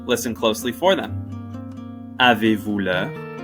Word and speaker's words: Avez-vous l'heure: Avez-vous l'heure? Avez-vous l'heure? Avez-vous l'heure? As you can see, there's a silent Z, S, and H.